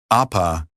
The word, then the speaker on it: Apa: Apa is pronounced with both A sounds as in father.